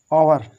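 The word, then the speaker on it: hour: तो यहाँ पर देखो ईयर, अब देखो यहाँ पर लिखा हुआ है ओवर, ओवर, हॉवर नहीं, ओवर, ओवर माने घंटा, जो हावर कहते हो हावर, वो हावर नहीं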